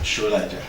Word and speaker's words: Solaja: Did I pronounce it well? Oluwatoyin. Oluwatoyin, yes. Solaja. Okay, the H is for...